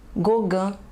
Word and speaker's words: Gauguin: Pronúncia dos nomes: Renoir, Sisley, Cézanne, Monet, Klimt, Degas, Seurat, Gauguin, Toulouse-Lautrec, Munch, Vincent van Gogh.